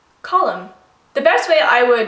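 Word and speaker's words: Colm: you want to pronounce Column the best way I would describe this would be like the word column like a column on a page that's kind of the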